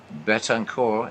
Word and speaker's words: Betancourt: Betancourt, and yeah, I'm using the French pronunciation, the 1-1 pitch.